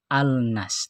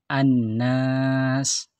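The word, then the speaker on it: الناس: lamnya yaitu huruf nun Annas tidak alnas tapi Anas seperti itu ya contoh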